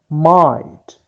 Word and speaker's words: might: May another word is might might G and eight are silent so we do not pronounce them so let us